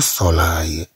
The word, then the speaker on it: soleil: ensuite nous prenons les mots avec اي qui s'écrit avec e i l. le soleil.